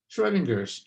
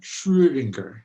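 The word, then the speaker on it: Schrödinger: here that is uh a couple dots over the o that's an out that's uh a german accent mark and it makes the sound be something like schroedinger i guess for german speakers um i'm going to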